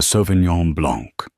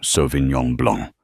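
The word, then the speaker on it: Sauvignon Blanc: She pronounced it correctly softly without a hint of correction in her tone. So Vinyong Blong, it was a tiny thing, a breath of air.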